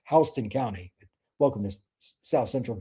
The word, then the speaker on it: Houston: There's Northside, there's Warner Robins, then it's It's spelled Houston, but it's uh called pronounced Houston County.